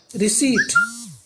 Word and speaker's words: receipt: RECEIPT रिसीट, इसमें students P silent रहता है।